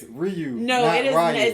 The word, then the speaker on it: Ryu: What's that other guy that you said we pronounced wrong? I was so mad. It's Ryu.